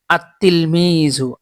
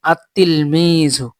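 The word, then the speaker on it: التلميذ: র সিনসিন সদ নুন এই 13 টি হরফের শুরুতে আলিফ লাম যুক্ত হলে লাম হরফটি উচ্চারিত হয় না বরং লাম হরফটি যুক্তালারিত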